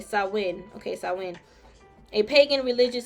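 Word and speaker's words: Samhain: in the ancient Celtic Festival of saman I hope I said it right sawin okay sawin okay sawin a pagan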